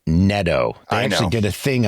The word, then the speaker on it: Neto: Zach Neato, their starting shorts stop. It's pronounced Neto.